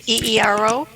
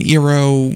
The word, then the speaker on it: eero: I think that's how you pronounce it, eero.